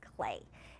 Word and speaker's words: Klee: artist today is Paul clay and when you see his name it's spelled kle so it looks like CLE but it's actually pronounced clay and Paul clay is a very famous